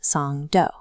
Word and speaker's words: Songdo: Across the bridge from the airport is the secondary node, the international business district of Songo, pronounced Song Doo.